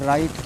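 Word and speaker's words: write: है रंग पढ़ा जाएगा लिखते हैं डब्लू आर आई टी पढ़ते हैं राइट क्यों डब्लू साइलेंट है रैप लिखते हैं रैप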